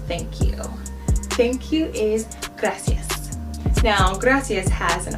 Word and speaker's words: gracias: Pretend that R is a D and then loosen up your tongue.